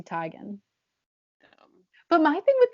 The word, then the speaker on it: Teigen: How you use Tigan? Yeah, it's supposed to be Chrissy Teigen.